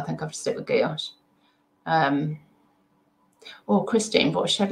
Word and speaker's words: gouache: Sue, just watch the French boat showing how to pronounce gouache. It's, oh, gouache.